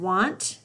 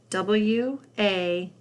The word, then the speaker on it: want: Let's read that word again, want, and spell it W-A-N-T, want. Watch out for the A in those two words.